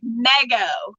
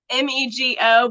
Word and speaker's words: Mego: like M sign but if you see the word nigo it looks like mega m EG o neg o but it's not it's like me go me go that's how you say it okay so Mego